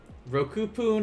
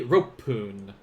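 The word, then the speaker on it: 六分: it's gonna be what roku poon is a good guess though very very good guess it's going to be ropepoon so they like they completely just get rid of the k rope what about seven as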